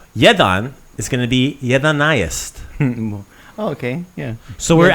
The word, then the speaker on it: jedanaest: Jedanaest. Jedanaest. Jedanaest. Right? So jedan is 1, jedanaest is 11. Jedanaest. So depending on how fast you say it or which, syllables you emphasize, jedanaest, 11. Jedanaest.